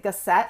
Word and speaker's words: Gasset: You pronounce it Gasset. It's a French name, but my husband's from Cuba.